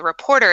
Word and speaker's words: RPRTR: He's another former TV guy, reporter anchor, and he started a podcast called Reporter. It's spelled RPRTR.